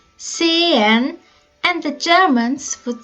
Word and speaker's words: sehen: You can also pronounce this irregular verb like sehen. The Swiss would say sehen and the Germans would say sehen.